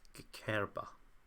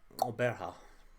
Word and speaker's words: Gqeberha: This is a very specific It's a click.